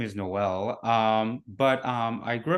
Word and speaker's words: Noel: your name right yeah it's actually pronounced um like Christmas like Noel so it's like a